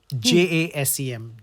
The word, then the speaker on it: Jasem: And Jasem. That's correct. That's the right pronunciation. Jasem.